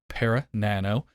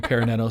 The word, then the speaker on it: ParaNano: had a conversation about Paran Nano I kept saying it wrong now I'm getting better at saying peran Nano so let people know